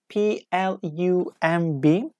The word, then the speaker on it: plum: I saw your answer P we pronounce but B we don't pronounce the correct answer is